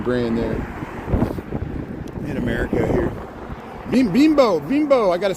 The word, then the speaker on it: Bimbo: Bimbo, I gotta say it right.